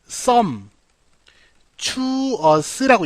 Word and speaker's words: sumptuous: 자, 어떻게 읽냐면 얘는 sum, to us라고 읽고요. 이 sum이 얘랑 같잖아요. 자, consume이란 단어 알죠? 그죠? 여기서 온 계열이잖아요. 그러니까 마구마구 쓸 수 있는 거예요. consume이 마구마구 되니까 sumptuous 무슨 뜻?